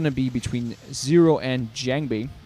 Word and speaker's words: JangBi: be between zero and jangi or jangi if you prefer to pronounce it correctly in the Korean way it's going to be